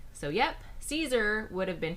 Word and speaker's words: Caesar: hard K so yep Caesar would have been pronounced Kaiser but note that the r would not be an English R but the r you'd hear in Spanish not rolled but a